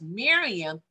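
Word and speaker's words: מרים: miriam it was miriam it's pronounced miriam in the hebrew language we say mary in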